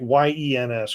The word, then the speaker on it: Jens: it's like one the it's spelled like ye NS correct it's yens tell yens I believe